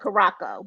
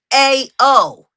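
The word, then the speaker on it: Curaçao: I call it Caraco, but yes. Yeah, they're Where called. y'all see? All right, The spell it. A is an C N. A. I mean Curacao.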